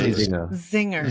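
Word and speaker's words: Czinger: pronounce the name of this company CU I Zinger you say the C I just say Zing see Zinger just so it's clear that everyone knows what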